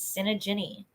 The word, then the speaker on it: Tsinajinnie: twitters i am at the t is silent because my name is cinegini and then on tick